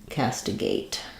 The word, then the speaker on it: castigate: to castigate um is has first syllable stress um letter A says the a sound cast we're going to have awah or an I on stress second syllable there um and then secondary stress on the gate we the letter e so makes the a say its name so think about it like um cast castigate um yeah castigate very good